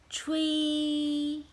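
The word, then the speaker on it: 吹: So the sound is tree, tree, tree. The spelling in Chinese is C H U and I. So we can do it together. C H U I.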